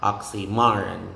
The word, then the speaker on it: oxymoron: and don't forget that in the word oxymoron the major stress is assigned to the third syllable which is ma oxymoron ma oxymoron okay so let's